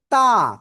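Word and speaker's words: ت: তা। কোন জায়গাতে উচ্চারিত হবে? জিহ্বার আগা সামনের উপরে দুই দাঁতের গোড়ায় লাগাবেন, লাগিয়ে একালিফটা নিয়ে উচ্চারণ করতে হবে।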